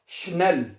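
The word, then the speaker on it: schnell: अच्छा अगला लफज़ है स्नेल।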